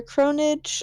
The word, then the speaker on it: Cronidge: Yeah, I don't really have much other than my cosplay stuff, which is all under Cronage on most platforms except for Twitter, which is just cronage.cos, C-O-S. It's spelled CRONIDGE.